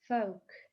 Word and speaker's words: folk: Folk, folk, народный. Смотрите, здесь буква L не дает звука, то есть мы просто произносим букву O.